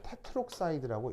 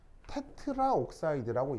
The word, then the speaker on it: 테트록사이드: 요걸 이제 뛰어내는 거예요 그래서 얘 읽을 때 테트록사이드라고 읽는 거죠 그러니까 발음을 한번 해보시면 테트라 옥사이드라고 얘기하면 발음이 좀 좀 힘들어요 그래서 영어에서는 이렇게 a하고 5가 합쳐져야 되는 경우는 a를 보내 버리고 테트록사이드라고 연음을 시켜서 발음을 조금 더 부드럽게 만들어 주는 거죠 그래서 테트라우크사이드가 아니라 테트록사이드라고 이제 표현을 한다라는 거 자 그다음 엔트오파이브는